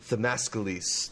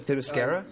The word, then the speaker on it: Themyscira: I am your co-host, Zachary Shevich, and joining me, the first man to step foot on ThiMascalis. Did I pronounce it right this time? Themyscira?